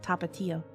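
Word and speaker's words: Tapatío: Tapatio. Yeah, tapatio and then tapatio. You're just shortening the syllables a little bit and then putting an accent on the I.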